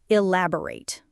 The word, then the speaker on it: elaborate: Let's look at the pronunciation of elaborate. It has four syllables. E, lab, o, rate. The stress is on the second syllable.